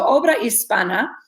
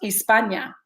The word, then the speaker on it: obra hispana: So obra hispana is pronounced just like that, hispana. It is not pronounced Hispania. Hispania, I believe, comes from people trying to think about Spain and how Spain is pronounced in Spanish, but it would have a ñ sign if it were pronounced Hispania. So the N is an N sound.